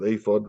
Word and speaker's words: ephod: um message uh through a glinting on the ephod um yeah we call it we pronounce it afod that's the Hebrew the Hebrews ifod and uh you got the letters right e-p-h-o-d